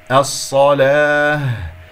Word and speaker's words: الصلاة: الصلاة، صاد مشددة، صاد ساكنة ثم صاد مفتوحة، صاد الساكنة رابعة، صاد المفتوحة ثانية، فانتبهوا. الصلاة، لا أقول الصلاة، اللام مرققة.